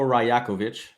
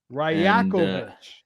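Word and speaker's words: Rajaković: Yes, it is Darko Rajakovic. Rajakovic. Yes, there you go.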